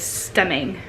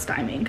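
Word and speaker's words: stimming: actually research it and the correct enunciation is stemming not styming so when you hear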